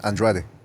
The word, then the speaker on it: Andrade: Okay, yeah, Andrade. Like Andrade, the- please. Andrade. Say it correctly.